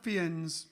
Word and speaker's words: Fiennes: How do you pronounce his last name, Ian? Ralph Fiennes, I think they say. Ralph Fiennes.